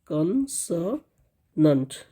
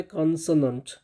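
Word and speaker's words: consonant: उसको हम लोग [गहरी सांस लेने की आवाज़] कसोनेंट कहते हैं। कसंट ठीक है ना? इसका सही उच्चारण होता है कसोनेंट।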